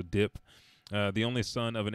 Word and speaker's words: Diop: The story follows professional thief Hassan Diop, and it's D-I-O-P, but it's French, so Dip, the only son of